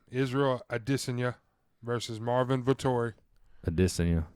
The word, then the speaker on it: Adesanya: Adesanya. I know. I like saying it. That's the right way to say it.